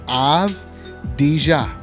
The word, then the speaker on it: Avdija: You got to look at the syllables, right? Avdija. Avdija. Daniel Gafford.